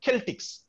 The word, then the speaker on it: Celtic: in the mid-first century where they are called celtics we write it as c-e-l-t-i-c but it is pronounced as celtic because the the word is